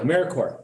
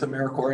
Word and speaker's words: AmeriCorps: all is familiar with americorps in this group well i couldn't pronounce it so core like marine marine corps and peace corps what we are is